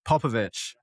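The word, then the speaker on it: Popovic: Papovic.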